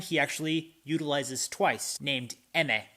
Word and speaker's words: Emme: actually utilizes twice, named Emme. I think that's how you pronounce it, E-M-M-E.